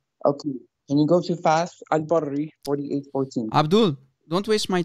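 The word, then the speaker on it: فتح الباري: And it's Fath al-Barri. You idiot. You can't even pronounce the name correctly. Fath al-Barri.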